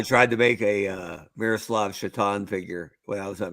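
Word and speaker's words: Miroslav Šatan: I tried to make a Miroslav Shatan figure when I was at McFarland for years. Winger for the Buffalo Sabres. Pretty good player whose last name was spelled Satan. Yeah. Pronounced Shatan.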